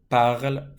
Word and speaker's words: parlent: And then the last one, ils parlent français. Silent NT.